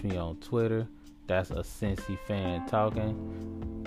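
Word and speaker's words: Cincy Fan Talkin': That's a Cincy Fan Talking. You say it like it sounds, just leave off the G.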